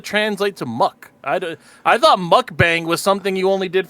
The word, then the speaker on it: mukbang: Bingo, spelt miak, pronounced more like mock. Okay, mock. So mukbang. Gotcha.